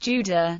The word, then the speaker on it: Jude: The German word Jude is pronounced Juda.